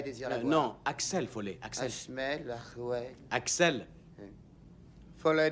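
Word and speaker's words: Axel Foley: Et Danny, veux-tu dire à Mademoiselle Summers que Monsieur Ahmed Follet désire la voir? Non, Axel Follet, Axel.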